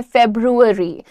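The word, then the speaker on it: February: नाम लिखा हुआ है ज्यादातर लोग इसको हिंदी उच्चारण में फरवरी कहते हैं लेकिन इसका करेक्ट प्रोनंसिएशन होता है फेब्रुअरी सो आप कैसे बोलोगे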